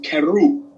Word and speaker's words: Kheru: to it okay okay the r that's in there okay it got like a little roll to it so when you pronounce it it's keru yeah it's gonna take